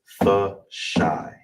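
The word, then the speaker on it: תשע: How is it broken down? You have the ta, the sha, well, sala, you have the ta, same connector, then you have the sha and I connected. So, all together is tasha. Tasha. That's how you say nine.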